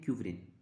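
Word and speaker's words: Ekuverin: तो इसका नाम है इकोविरिन। ई साइलेंट है यहाँ पे कह सकते हैं क्यूवरिन।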